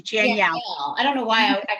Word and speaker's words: Janielle: It's just like Danielle with a J. Janielle.